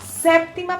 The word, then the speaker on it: séptima: A sétima pergunta, a séptima pergunta, em espanhol, é importante pronunciar aquela P antes da T.